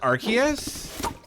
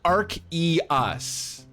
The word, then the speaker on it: Arceus: anyone been playing the new um legends arceus how do you pronounce it arceus or arceus uh thank you